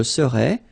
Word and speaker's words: serais: Je serais, tu serais, il serait, elle serait. Alright? So then, final S not pronounced.